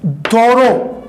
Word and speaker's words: thorough: आगे बढ़े जी हमारे सामने दोरो. इसका जो प्रोनाउंसिएशन होगा वो होगा दोस्तों दोरो.